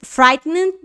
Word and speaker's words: frightened: ficar desapontado get fright frightened que é ficar assustado OK get frightened frighten não é get frighten get frighten esse e d ele tem um som de d o e ele não é pronunciado tá então vou repetir